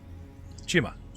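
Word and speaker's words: Chioma: get it did we get his name c-h-i-o-m-a chima he just thickens the accent so he doesn't have to spell it for you let's go you chichi like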